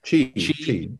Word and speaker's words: Qi: The one thing I've been amazed about this Qi, how do you pronounce it? The charging, wireless charging? Qi.